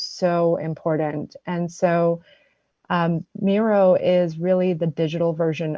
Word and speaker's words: Miro: that for us sure Miro is m-i-r-o Miro like I look hello sorry what was that